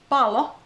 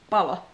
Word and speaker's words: palo: So be careful with length of vowels and consonants. For example, pallo with two L's is ball, and palo with one L is fire. Pallo, palo.